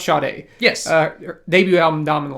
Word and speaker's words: Sade: talked about this artist out loud but uh Sade yes Sade yeah spelled black Sade but yeah pronounced shot a yes uh debut album dominant life uh I